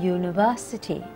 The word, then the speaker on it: university: exception to rule is the vowel you in University sounds like the word you when you spelled